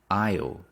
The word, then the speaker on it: aisle: Aisle, we don't pronounce the S. Aisle seat.